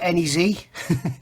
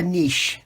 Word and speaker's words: Anyz: worth having a look a lot of people call it Nez it's actually a niche it's the way it's